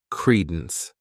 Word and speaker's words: credence: next noun is Credence this word has two syllables and the stress is on that first syllable Credence what it means is